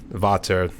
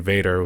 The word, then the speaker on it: Vater: He was saying, like, you pronounce it Vater, since it's German, too, since it's Vater. I always thought whenever people were saying about those sticks, I thought they were actually saying Vader with Vader.